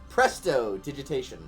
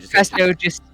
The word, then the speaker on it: prestidigitation: If you want to, like the best, if you really need help saying it, you could think of presto digitation, even though it's not pronounced. Oh yeah, that's better. Prestidigitation.